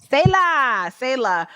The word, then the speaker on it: Selah: Shayla or Sela, I'm sorry, I don't know how to say the kid's name except for YG Marlin. How you say it? Selah.